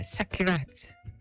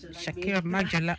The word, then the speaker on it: Sakirat: I have with me Abin Ba uh Sakirat. Shakira. Oh, the T is silent.